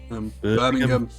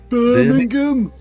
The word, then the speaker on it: Birmingham: Yeah, those sort of Yeah, we don't say the ham. We go things. Birmingham. Birmingham.